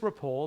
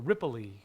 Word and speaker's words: Ripoll: know not legally uh everybody would call me Ripple riple riple Ripple oh I always hate that when people mispronounce my last name it's just rapole there's no I at the end yeah the common the first one is they put an i so rippley you know but uh